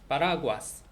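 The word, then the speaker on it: paraguas: 호벤은 젊은이란 뜻인데 맨 앞에 있는, 왜냐면 n으로 끝났으니까 거기에 강세가 있겠고, 파라과스, 파라과스. 파라과스는 이제 우산인데 과스가 한 음절로 됐네요. 그래서 파라과스, 파라과스. s로 끝났으니까 그 전 음절이 됐다.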